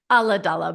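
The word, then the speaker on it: Ulladulla: joining us via Zoom all the way from ola in New South Wales hey Rachel how are you I'm good thank you and I'll just say it's Allah DOA but I love that pronunciation it was beautiful oh it's great yeah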